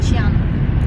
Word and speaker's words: Qianmen: Qianmen.